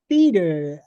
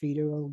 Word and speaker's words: Feder: while until I, uh, realized that it's pronounced feeder.